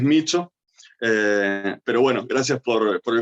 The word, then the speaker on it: Miccio: Bueno, en principio una cosa, mi apellido se pronuncia Micho, pero yo tengo el hábito de pronunciarlo mal porque mi familia siempre se lo pronuncia así, Ah, bien. así que el italiano duro, el italiano estricto es Micho, pero bueno, gracias por